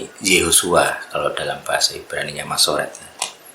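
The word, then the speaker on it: יהושע: Jadi cara baca sesuai Masoret itu Yehosua.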